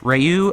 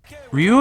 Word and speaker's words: Ryu: We then cut to our B-plot guys, Ryu and Ken. The proper pronunciation is Ryu.